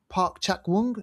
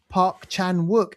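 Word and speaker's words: Park Chan-wook: This is uh called No Other Choice directed by Park Park Chakong. No, I'm saying that wrong. I butchered his name. Park Park Chan Wuk.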